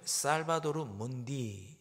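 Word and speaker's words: Salvator Mundi: 예수님의 초상화 중에 하나가 바로이 그림입니다네이 그림의 제목은 살바도르 문디 바 발음합니다 구세주라는 뜻입니다 레오나르도 다빈치가 16세기에 그린 예수님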